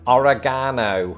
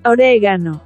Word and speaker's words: oregano: mirrors our very own oregano. The problem is, reality dictates otherwise. Just as with the pronunciation favored by Americans, Spanish speakers also place the stress on the second syllable, resulting in oregano.